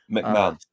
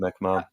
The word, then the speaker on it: McMahon: McMahon. That's how you pronounce it, McMahon.